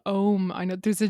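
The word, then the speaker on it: Ogham: written language is called ohm i know there's a g in the middle the irish language oh oh my god it's very complicated g and the h is silent together i know it's very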